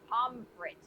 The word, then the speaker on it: pommes frites: Correctly pronounced pommes frites in German. They are either called pommes, pronounced that, or fritten.